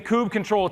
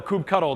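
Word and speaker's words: kubectl: kubernetes tooling if you're using Kubb control to be able to or coop cuddle depending on how you say it to be able to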